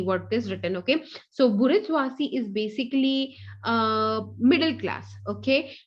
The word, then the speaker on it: bourgeoisie: Okay, bourgeoisie. Okay, now what is this bourgeoisie? It's a French word. Okay, we generally pronounce it as the bourgeois and all that. Okay, but it's actually bourgeoisie.